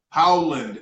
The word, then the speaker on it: Howland: I hate to mispronounce somebody's last name. Howland, H-O-W, Howland.